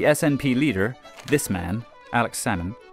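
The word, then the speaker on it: Salmond: leader this man Alex sammon you don't pronounce the L like with the fish became Scotland's first Minister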